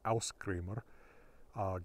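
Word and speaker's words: Ásgrímr: So, for example, Os Grimr, modern Icelandic pronunciation, Aus Grimr, God mask, or the pretty common Thor Grimr, Thor mask.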